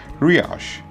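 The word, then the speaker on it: Riyash: name is ryash and how do you spell that that is r i y a s h riash okay so teacher riash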